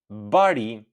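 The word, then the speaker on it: bari: So, make sure you put the stress at the I at the end for the word shepherd.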